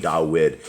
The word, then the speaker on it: Dawid: that people understand that when we're saying dawid is the the actual the right pronunciation of the the the king of Israel is not David it's DED okay and